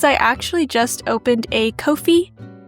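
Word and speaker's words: Ko-fi: actually just opened a Kofi I don't know if it's Kofi or coffee but it's spelled with a K so I'm going to say Kofi but yeah the money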